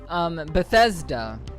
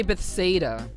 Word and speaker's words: Bethesda: Bethesda. I keep wanting to say Bethsaida for whatever reason.